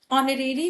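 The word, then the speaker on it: honorary: अब यहाँ पर क्या है, लिखा हुआ है एच, लेकिन एच साइलेंट है, और यहाँ पर क्या है, ऑनरेरी में क्या है, ओ की साउंड आ रही है, यानी कि वॉवल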